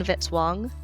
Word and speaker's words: Vitz-Wong: Music by Kevin Vitz-Wong, rhymes with hit song.